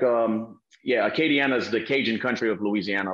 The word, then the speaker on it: Acadiana: of lafayette arcade uh uh how do you pronounce it arcade k deanna katie acadiana katie yeah so that's like uh yeah so